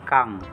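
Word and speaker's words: 강: Pag nasa una po, K po ang bigkas nito. Sunod po, yung A naman po. Tapos, yung ending consonant na N G, yung bilog po. Kang. Ang basa po ay Kang.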